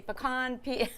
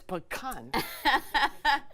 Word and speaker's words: pecan: How do you say pecan, by the way? I say pecan. I'm never sure. Am I drinking? It's pecan.